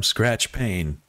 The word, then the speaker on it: Skratch Pain: I am Skratch Pain. That's Skratch with a K, Pain with a silent E at the end.